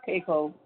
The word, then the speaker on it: Keiko: I was like, how do you pronounce it? Keiko. She's like, it's Keiko.